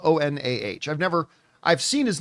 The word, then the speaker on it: Onah: Now, the director of the film is a guy by the name of Julius Onah, or Onah, depending on how you pronounce it. His last name is spelled O-N-A-H.